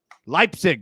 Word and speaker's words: Leipzig: SC Freiburg, and how do you pronounce that? Leipzig.